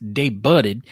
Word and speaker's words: debuted: It's pronounced debuted, and it's Louisville.